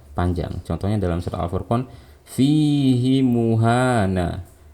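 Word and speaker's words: فِيهِ مُهَانًا: Contohnya dalam surah Al-Furqan, fihi muhana. Seharusnya kita nggak boleh membaca panjang. Cara bacanya seperti tadi, fihi muhana. Nah, tapi karena ini pengecualian, hi-nya dibaca panjang.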